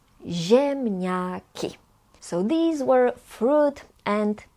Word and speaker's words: ziemniaki: Z and I together is pronounced as zi. Zi. Ziemniaki.